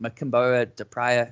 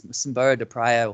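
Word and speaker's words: Mocímboa da Praia: When I first heard of this place, I was calling it Machimboa de Praia. So it's Machimboa de Praia, or Machimboa, as you would say, probably more legitimate than myself.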